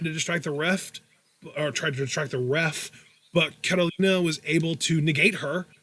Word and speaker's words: Carolina: Then last week we had the debut of Carolina, who Vic Joseph cannot pronounce correctly. He calls her Catalina every time, but her name is Carolina, which is Carolina with a Spanish accent, because she's Spanish, guys.